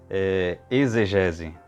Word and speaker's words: exegese: Nós estamos acostumados a falar exegese, né, com fonema de Z, né? Para muitos, e como regra no português atual é uma palavra paroxítona, né? Exegese, ou seja, a penúltima sílaba pronunciada mais fortemente.